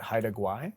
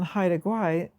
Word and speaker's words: Haida Gwaii: In one coastal area in BC, I'm going to try to pronounce it, Haida Gwaii.